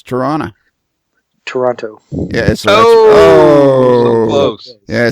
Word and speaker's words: Toronto: Toronto. Yeah. So so close. Yeah. See, the second T is silent. It's Toronto. So there's no T. Toronto.